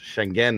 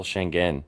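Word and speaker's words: Şengün: now but our boy it's properly pronounced shenen apparently oh shenen he's going to Shang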